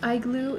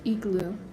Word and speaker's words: igloo: Not pronounced iglue. It's pronounced e-glue.